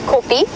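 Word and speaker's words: kopje: nice in areas we know as copies a copy is a little Hill and it's spelled k o p j e copy is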